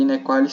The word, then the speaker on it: inequalis: E inequalis se escreve do jeito que se fala mesmo, I-N-E-Q-U-A-L-I-S, inequalis, né?